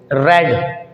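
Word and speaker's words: read: है वो सेम है रेड ये सेकंड फॉर्म या थर्ड फॉर्म है रीड की रीड की फर्स्ट फॉर्म है रीड पढ़ते हैं थर्ड और सेकंड फॉर्म की स्पेलिंग यही होती है लेकिन उसको रेड पढ़ते हैं और ये है रेड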